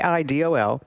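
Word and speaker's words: AIDOL: And it's spelled A I D O L but pronounced Idol.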